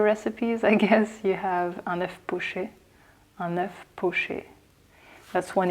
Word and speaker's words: un œuf poché: It's un œuf poché.